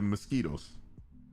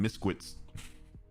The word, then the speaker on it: mosquito: hotel to avoid the mosquitoes i had a ex-girlfriend in a high school she never pronounced mosquito properly so she would always call them misquits i never forgot that misquits it's